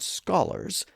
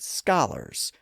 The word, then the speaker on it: scholars: He wrote that instead of saying the word scholars, they said scholars, which he spelled phonetically as S-K-A-L-E-R-Z. That's essentially the same as the modern American pronunciation.